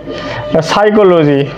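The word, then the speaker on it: psychology: সাইকোলজি। সাইকোলজি। পি এস ওয়াই সি এইচ ও এল ওজি ওয়াই সাইকোলজি। তো সাইকোলজি বানানটা কিন্তু একটু সতর্ক রাখবেন আপনারা পি দ্বারা কিন্তু শুরু হয় পিএস ওয়াই সিএইচ এলজি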